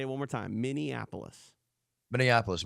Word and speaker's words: Minneapolis: it one more time Minneapolis Minneapolis am I saying it wrong yeah you said you said Indianapolis which is what people do all the time wait let